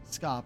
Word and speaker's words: scop: SC sounds like SH, so you'd pronounce scop like shop. Okay.